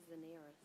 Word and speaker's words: Daenerys: Daenerys. Okay, Zeneris. There's another child, Panapatoa. How do you spell it?